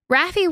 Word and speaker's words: Raffi: It's Rafi. Rafi. Rafi. It's Rafi, honey.